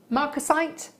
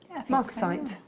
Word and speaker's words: marcasite: stone and now then how do we know that she pronounced this marcasite marcasite yeah excellent pronunciation always a problem for